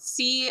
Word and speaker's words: Claddagh: guess, is that they get each other a claddagh ring. I looked it up. It's spelled Claddagh.